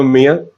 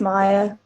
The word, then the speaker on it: Maya: Hello, Mia. Hello, it's Maya. But Maya?